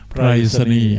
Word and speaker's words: ไปรษณีย์: ปฐมบรมราชานุสรณ์ อ่าน ว่า ปฐมบรมราชานุสรณ์ ไปรษณีย์ อ่าน ว่า ไปรษณี์ โรเดช อ่าน ว่า โทร